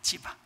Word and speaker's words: 시바: 어 사울 집안에 종이 있었는데 시바라고 발음이 좀 거시게 하죠. 근데 이게 정확하게만 찌바입니다. 찌바 찌 어 찌바인데 이제 약간 시바로 이제 발음했는데이 사람이 어 사울 집안에 남은 사람이 있다 하는 거예요.